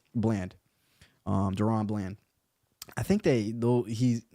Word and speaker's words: Bland: But yeah, Bland, I said it right, Bland, Deron Bland.